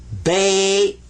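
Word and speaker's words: بيت: but in this case this one gets ba this gets a sakon uhh what's a suon suon means don't pronounce it but give it some value anyway this is bait bait house bait house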